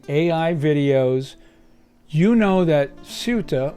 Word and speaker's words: Ceuta: If you haven't been in a dark hole watching AI videos, you know that Ceuta, or Sayuta, as my daughter tells me is the correct pronunciation, has been a hot topic these past few days.